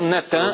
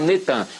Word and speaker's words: Natan: No dia 4 de novembro de 2002, lança o nome do ex-primeiro-ministro de Al-Shorur de Israel, Natan, é Natan, eles já fizeram o sincretismo, botaram Netan, mas é Natan e Arro.